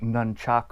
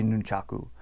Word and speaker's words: nunchaku: pronounce and speak them hence words like Nunchuk ooh or nun numchuck it should be nunchaku but you have to